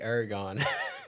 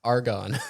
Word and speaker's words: argon: Might not be Aragon. What did I write that wrong? Okay, what is it? Argon.